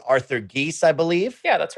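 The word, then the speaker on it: Gies: done by alana i think you'll help me pronounce this man's name correctly arthur geese i believe yeah that's right and he had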